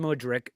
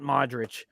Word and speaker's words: Mudryk: So what I'm afraid of with Arsenal is that we're finally going to sign Mudryk, not Modric.